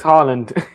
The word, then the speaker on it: Haaland: And I can't pronounce the Norwegian's player's name who we signed Tuesday night? Monday night. It's Haaland.